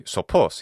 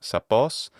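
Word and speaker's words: σοφός: It's got to be sopos. He's just mispronouncing the first omicron as an alpha.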